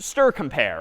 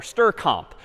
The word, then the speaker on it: strcmp: I apparently deploy yeah Str Str CMP or is someone would pronounce it just stir compare or stir comp so this like stir